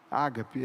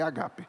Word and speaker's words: ágape: Familiar eles tinham agape Ágape é como se fala mas o certo é agape exes tinha o amor